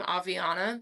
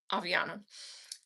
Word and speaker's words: Aviana: Um, so Aviana's Ascension, if anyone was wondering, that's how you say my name, Aviana. like Ariana or like avocado Aviana.